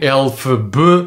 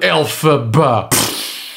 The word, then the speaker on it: Elphaba: A Cynthia Erivo é incrível no papel de Elphaba, cujo nome vem da pronúncia fonética das primeiras letras do nome do autor do Feiticeiro de Oz, L. Frank Baum, LFB, Elphaba, Elphaba.